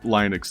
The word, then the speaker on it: Linux: But Linux is always Linux. Oh, Linux But is always Linux.